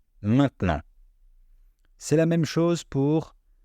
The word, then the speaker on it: maintenant: une différence et puis quand le E est placé au milieu d'un mot entre deux consonnes on ne va pas le prononcer par exemple les mots maintenant maintenant à l'écrit c'est un mot à trois syllables et à l'oral c'est un mot à deux syllabes vous voyez maintenant maintenant